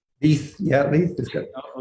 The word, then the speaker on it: Leith: was founded by you and Rosemary, am I pronouncing Leith correctly? Leith, yeah, Leith is good.